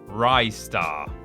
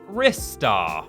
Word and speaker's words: Ristar: And number 1, Ristar. Or Ristar, as a lot of people apparently pronounce it.